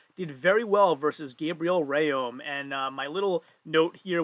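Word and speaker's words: Rhéaume: you know everybody else there right so gabriel rayom that is how you pronounce his last name brian shaw actually had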